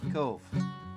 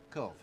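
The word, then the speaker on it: Cobh: Cork City that is spelled C-O-H-B. Is that right? Cove. Cove. You said that as though it would be intuitive. Cove. C-O-H-B. Anytime you see a B-H in Irish, it means a V sound.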